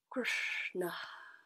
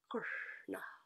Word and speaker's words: Kṛṣṇa: Kṛṣṇa is the name of this particular energetic expression of life. And the way we pronounce this word, if we look at the